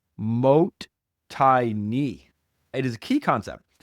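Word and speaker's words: もったいない: One of the most significant value concepts that we have cherished from ancient times is this term pronounced mo tini.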